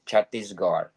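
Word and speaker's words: Chhattisgarh: territory of Delhi and chatis gar I don't know forgive me if I did pronounce well chattis that's right yes chattis Gard tana and Pradesh Punjab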